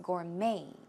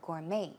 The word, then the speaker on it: gourmet: gourmet chef as well in that case the T is silent its gourmet gourmet as an ma Y